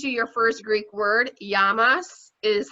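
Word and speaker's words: γεια μας: have to teach you your first greek word yamas is how you say cheers so yes yamas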